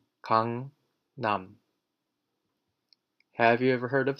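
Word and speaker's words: 강남: be Cong Cong and now we know that this word is pronounced Cong num have you ever heard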